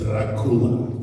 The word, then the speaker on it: Dracula: Actually, the way you pronounce it is Dracula.